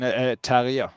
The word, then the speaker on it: Terje: So Amelia, I just wanted to ask you, how do you pronounce your first name in the Norwegian pronunciation? Terje.